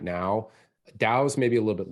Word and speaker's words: DAO: people that aren't familiar what what is a dao in the first place i am i even pronouncing it right yeah you're pronouncing it